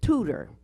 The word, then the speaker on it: Tudor: And her name is Tudor. Like you tutor a person in school, but it's just spelled with Tudor or ER.